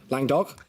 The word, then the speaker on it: Languedoc: Lang-doc?